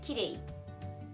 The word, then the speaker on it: きれい: I can only think of one exception right now, which is きれい. きれい. So, きれい is 3-syllable adjective, but we wouldn't say きれい. We wouldn't say that. We say the entire word. So we say きれい. So きれい is an exception.